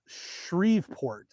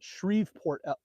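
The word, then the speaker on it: Shreveport: Shriveport is how you say it. Shriveport.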